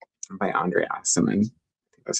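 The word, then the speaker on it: Aciman: Like, I'll give you a really great example is Call Me By Your Name by Andre Asimon.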